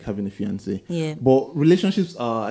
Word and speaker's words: fiancé: Both, you know, it's spelled differently, but it's, they are all pronounced the same way.